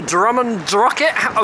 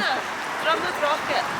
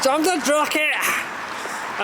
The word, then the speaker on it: Drumnadrochit: So we're at the Drumnadrochit, which I pronounced wrong. Drumnadrochit. Drumnadrochit!